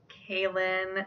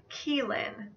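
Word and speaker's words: Caolan: My first Caleb alternative I have is Kaelin. This is an Irish name that means slender, and it can also be spelled C-A-O-L-A-N. It is also sometimes pronounced as Keelin.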